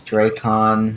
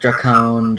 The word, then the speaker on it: Dracon: The name's Dracon, not Dracone, Dracon.